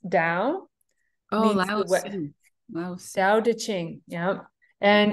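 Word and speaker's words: Tao: right here it's it's ta AO but it's pronounced Dao da Ching yeah and it's it's 81 chapters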